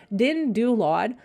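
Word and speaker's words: DynDOLOD: First of all, being I'm used to generating my loads with Dynalod, Dindulod, or why do I always pronounce it like that? Okay, Dindulod.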